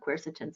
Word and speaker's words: quercetin: Are there medications that can't be mixed with quercetin, something like, you know, the grapefruit interactions and stuff? Are there things to look out for if someone's doing quercetin supplements?